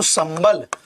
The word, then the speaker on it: संबल: चूंकि बा पा वर्ग का वर्ण है, इसीलिए ये जो है इसका उच्चारण मां के रूप में होगा। जैसे यदि मैं आपसे कहूं शब्द, जरा देखें, जैसे शब्द मैं कह दूं संबल, जरा देखो संबल, तो